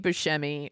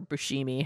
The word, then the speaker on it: Buscemi: is really funny and steve buscemi or bushimi however you want to pronounce it yeah yeah shows up